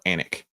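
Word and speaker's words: Alnwick: don't understand how the British people the word is spelled alwick a l n wi CK and they call it anic you literally live where the queen's English is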